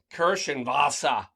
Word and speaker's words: Kirschwasser: The Kirschwasser. It's German. That's how they say it in Germany.